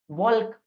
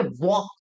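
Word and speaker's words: walk: अब काफी सारे लोगों को मैं बोलूंगा कि भैया टहलना का मीनिंग बताओ, बोलोगे भैया वॉल्क, लेकिन वॉल्क नहीं पढ़ा जाता, इसे पढ़ा जाता है वॉक।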